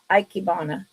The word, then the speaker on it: ikebana: Ikebana. I always say icky. That is wrong. Ikebana.